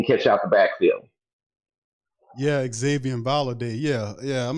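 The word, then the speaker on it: Xazavian: you to look at his name is spelled funny it's pronounced Xavier but it's like x-a-z-a-v-i-a-n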